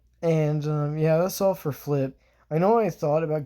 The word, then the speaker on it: Phlip: It is flip, like a backflip, but it's spelled with a PH instead of an F, because I thought that